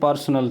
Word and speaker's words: personnel: लेकिन यहाँ पे ये वाला पर्सनल नहीं, यहाँ पे पूछा जा रहा है पर्सोनेल।